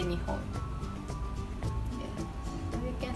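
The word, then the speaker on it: 日本: Nihon or Nippon? Yes. Japan in Japanese is Nippon or Nihon.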